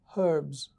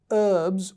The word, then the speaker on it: herbs: the word is pronounced herbs in the uk it's pronounced herbs with the h silent in the u.s all right so herbs is the is the